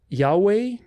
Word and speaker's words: Yahweh: God's name is pronounced Yahweh all vowels if you were to spell it phonetically it would be i a o u e i Yahweh emphasis on the second there's no heavy H is not yahu or